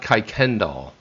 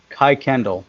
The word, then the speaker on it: Kuykendall: By the way, this is how you pronounce it. It's Todd Kuykendall. Kuykendall.